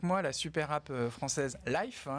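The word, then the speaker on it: Lyf: la super app française Life, il le prononce à l'anglaise, historiquement spécialisée dans le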